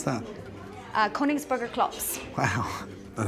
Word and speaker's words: Königsberger Klops: How do you pronounce that? Königsberger Klops.